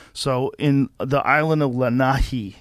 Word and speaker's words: Lanai: in the island of lanahi you got to say it right i usually say lanai but it's lanai um they have 3